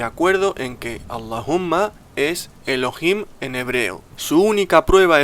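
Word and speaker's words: אלהים: In the Hebrew, and it is pronounced Elohim, Elohim, very similar to Allahumma.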